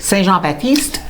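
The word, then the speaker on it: Saint-Jean-Baptiste: Saint Jean Baptiste.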